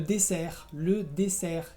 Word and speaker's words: dessert: consonante, vas a encontrar muchas palabras que se terminan en RT y la T no se pronuncia. Por ejemplo, l'aéroport, que es el aeropuerto, o le dessert, que es el postre. O después de una N